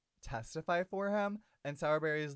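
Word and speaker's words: Sowrberry: SE berries um but don't worry it is pronounced sourberry just in case anybody was in case any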